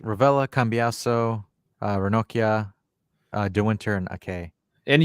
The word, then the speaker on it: Ranocchia: So right now it's Ravella, Cambiaso, Ranocchia, De Winter, and Ake. And Juventino MC. That's the Rano name there. That for Ranocchia. It's Ranocchia.